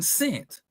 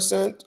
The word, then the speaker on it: scent: What letter is silent in scent? Which one? The smell and scent or right the c.